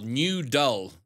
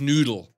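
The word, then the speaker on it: Newdul: Yeah, but it's spelled N-E-W-D-U-L, New Dull. So I think it's Noodle.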